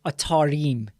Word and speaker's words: Atarim: I keep saying Atarim. It's Atarim.